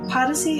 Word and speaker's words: Podyssey: Podyssey is Odyssey spelled with a P. Podyssey.